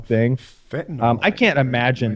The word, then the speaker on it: fentanyl: Fentanyl. I can't imagine. Am I saying it right? Fentanyl. That's Fentanyl one is of one of them.